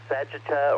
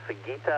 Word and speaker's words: Sagitta: the little fox and sagitta or sagita I've heard it pronounced both ways the arrow slide Master